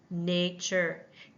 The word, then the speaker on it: nature: And what happens with our open syllable, first syllable, ne? It makes the A sound at the end. We hear that A.